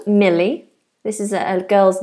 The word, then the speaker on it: Millie: we have the name Millie this is a girl's name Millie and this is a light L Mill mil Millie Millie